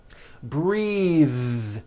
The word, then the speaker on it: breathe: suit breathe same thing breath is a noun take a breath unvoiced but when you change it into a verb the vowel changes and it becomes breathe I am breath brething with a voiced th now let's do some